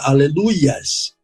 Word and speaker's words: Aleluia: Deus não é ias que formaria a palavra aleluias o nome de Deus é Iá E a pronúncia correta é Aleluia ou no hebraico Aleluia